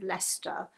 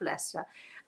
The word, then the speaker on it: Leicester: want to know how if you look up leicester you'll never find it if you spell it the way it sounds e s t l-e-i-c-e-s-t i yes it's a weird thing l e i c